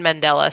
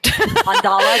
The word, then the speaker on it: Mandela: No, it's after Nelson Mandela, so it is Mandela. Did I say it right? I don't think you did. Mandala?